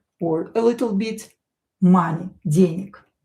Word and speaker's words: денег: a little bit, money, денег. This G here will be pronounced as K. Денег, because voiced consonant located at the end of the word will become unvoiced.